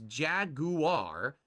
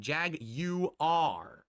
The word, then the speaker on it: Jaguar: Their new logo is Jaguar, emphasizing the British pronunciation Jag-U-R. Get it? It's not Jaguar or Jaguar, it's Jag-U-R.